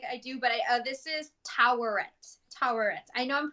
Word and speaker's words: Taweret: I do, but this is Toweret. Toweret. I know I'm pronouncing wrong, but you'll get what I'm saying. It's Toweret. Taweret.